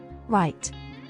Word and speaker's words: write: silent W the letter W is silent in some words particularly when the letter R follows the letter W Rak ring wrinkle wrap